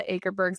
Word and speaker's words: Akerbergs: Been forever calling them the Akerbergs.